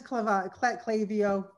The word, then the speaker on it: Klaviyo: See, everybody uses Klaviyo.